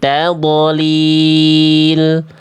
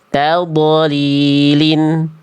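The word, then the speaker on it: تضليل: Jadi jangan sampai dibaca alam yaj'al kaidahum fi tadolil. Tapi tadlilin enggak boleh tapi tadlilin.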